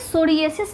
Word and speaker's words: psoriasis: ए एस आई एस तो इसको हम कैसे बोलेंगे सोरियास बस बोलेंगे पी साइलेंट होता है तो स्पेलिंग पे भी